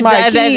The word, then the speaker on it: Marquis: It's Marcus, right? Marquis, don't kill me. Like, No, because I don't like pronouncing people's name wrong. It's Marquis.